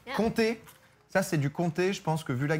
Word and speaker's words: comté: Comté, ça c'est du comté, je pense que vu la gueule du truc, c'est... Comté, like 1, 2, 3... Exactement. OK. Pas écrit pareil, mais ça se prononce de la même manière.